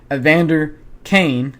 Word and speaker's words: Evander Kane: Draisaitl gets the primary assist on this one as he wins the face-off towards Evander Kane, that's how you pronounce his name.